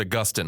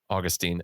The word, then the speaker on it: Augustine: By the way, I should correct myself. I said I said Augustine. I should have said Augustine.